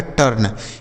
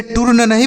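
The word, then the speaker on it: turn: न लिखा गया है टर्न इसे टूर नहीं पढ़ेंगे टर्न पढ़ेंगे ठीक है टर्न सी यू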